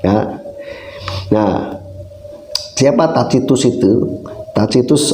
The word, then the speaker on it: Tacitus: Tacitus atau Tacitus bacanya ya, itu dikenal sebagai sejarawan yang hebat untuk Roma kuno ya.